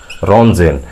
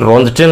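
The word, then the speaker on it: Röntgen: की, रिटर ने scientist, x raise रोन्जटेन, रोन्जन पढ़ा जाता है, टी साइलेंट होता है, रोन्जेन, रोन्जन, रोन्जन कह सकते हैं।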